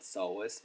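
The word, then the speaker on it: psoas: we have alakus so measure the P silence so it's called soas measure add doctor longus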